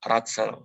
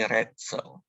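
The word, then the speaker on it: Rätsel: Jadi bukan dibaca Ratzel, tapi Retzel. Retzel.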